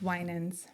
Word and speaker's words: Winans: So real quick, it's Winans.